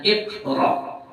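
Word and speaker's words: اقرأ: Jadi misalnya iqra, anro ya, ro.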